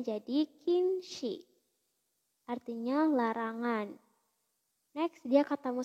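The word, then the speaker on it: 禁止: Oke, next dia ketemu sama kanji ini dibacanya jadi kinshi.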